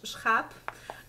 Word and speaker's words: schaap: So to me, you know, this word schaap, the schaap is how it's pronounced.